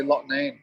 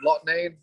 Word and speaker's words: Loughnane: i don't actually know so i'd say lot name lot name works for me all right all right